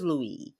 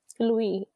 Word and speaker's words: Louis: It's not Louis. It's Louis. But it's spelled Louis with an S. No, it's like spelled like in French. It would just the S is silent.